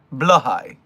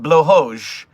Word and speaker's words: Blåhaj: And this person is saying that blowhoj is the Swedish pronunciation of it, while other Nordic languages were the ones blowho and blahai and whatever.